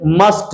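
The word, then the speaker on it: must: इसका उच्चारण क्या आना चाहिए, टी आना चाहिए। टी मतलब टमाटर, ना कि ता मतलब तलवार। मस्त मस्त नहीं बोलेंगे, समझे ना, मस्त नहीं होता है, इसे मस्ट करते हैं।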